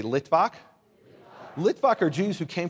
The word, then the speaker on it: Litvak: Say Litvak. Litvak are Jews who came from Eastern Europe, from Lithuania. Litvak is the Yiddish pronunciation of someone who comes from Lithuania.